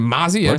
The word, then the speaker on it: Mozzie: As revealed during the 6 Invitational Year 4 Season 1, will bring 2 new operators, Mozzie, right? That's how you say it, Mozzie, and Gridlock, as well as a new map named Outback.